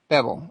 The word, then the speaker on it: Bevell: fine is that bevel or bevel it's I pronounce it bevel bevel okay I wasn't exactly sure I knew it